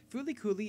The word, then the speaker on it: FLCL: adaptation as such today we dive into flcl pronounced as foly fly kulie is a sixth episode OVA produced by the